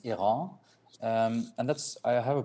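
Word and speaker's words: Airain: We are going into the design stage slowly with that, and that's a brand Erin, that's I pronounce it, but in French the official pronunciation is Iran.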